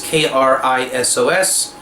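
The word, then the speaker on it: Keritot: The Ashkenazi way is Krisos. How do you spell it in English? Is it Kritot? Kritot, I think. Play around with the spellings. Wherever there was a T, there can be an S, and wherever there's an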